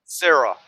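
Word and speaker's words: Cyra: our other Mage I keep forgetting her name Sarah Sarah need to write that down c y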